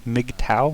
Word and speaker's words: MGTOW: big cow and it that's how it's pronounced a big towel like a Meg like a Russian fighter plane and then pout like a ancient Chinese philosophy or something it's mgtow and it's